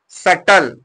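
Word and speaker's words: subtle: देखिए लिखा है क्या सटल एस यू बी टी एल ई अब यहां पर देखिए बी यहां पर क्या है साइलेंट है इसको कैसे लिखा जाएगा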